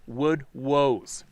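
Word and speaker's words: woodwose: He told me that I had seen the woodwoss, pronounced wood woes, and that I had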